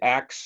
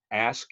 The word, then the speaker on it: ask: But so don't say axe and don't say nuclear. Say ask and nuclear.